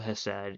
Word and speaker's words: Chesed: If you want like a real like shock as to how we gravely mispronounce the Sephiroth, Chesed is actually just called Hesed. You don't pronounce the C at all.